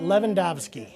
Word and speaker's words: Lewandowski: Finally learned how to spell it. Lewandowski.